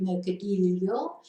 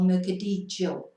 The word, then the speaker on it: mercadillo: A couple of ways you could pronounce that as well. It could be mercadillo, or mercadillo, depending on which what your accent is in Spanish.